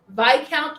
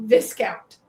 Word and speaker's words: Viscount: game I called it viscount. So yeah, but the S is silent for some reason whatever.